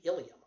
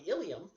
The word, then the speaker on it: ileum: All right, but anyhow, the ileum is, be careful of that spelling because there's another word in your body pronounced ileum, I-L-I-U-M.